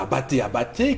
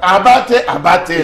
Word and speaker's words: Abaté: Souvenez-vous de Lazare Abaté, qui faisait à l'époque... Non, vous prononcez mal. Prononcez pour que les Camerounais comprennent. Abaté, Lazare.